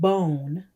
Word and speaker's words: bone: for the m sound the e is silent and it's telling the o to say its name write the word bone on your paper the